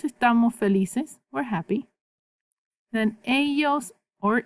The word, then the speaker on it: ellos: That double L says ya.